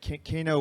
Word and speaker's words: Kaino: Yeah, it's Kaino, but Kaino works too, because one of my friends told me once that I should name my first daughter or son Vol, because then people would pronounce it volcano, and it would just totally work.